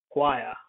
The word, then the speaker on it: choir: included this because it's choir it's like cue choir and uh depends on yeah it's coming from french it's coming from french that's why they watch pronunciation is from french anyway oi from memoir